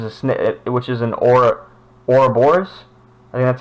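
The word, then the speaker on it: Ouroboros: serpent which is a snit which is an aura or Bors that's how it's pronounced which is a snake biting its own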